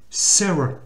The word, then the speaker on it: Sarah: En fait, il faut prononcer Sarah. C'est son E. Sarah. Parce que quand le A il se trouve en fin de mot, il a tendance à se prononcer E. Puisqu'il n'est pas accentué.